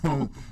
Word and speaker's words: Swope: I got your name pronounced correctly. Rope Swope. Hope for Swope.